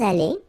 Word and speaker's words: allés: You don't pronounce it. Okay, so phonetically it's aller, aller, aller, and aller.